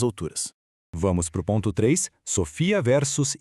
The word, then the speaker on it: Sophia: O detalhe crucial é que já começa pela pronúncia correta da ferramenta, tá? É Sofia.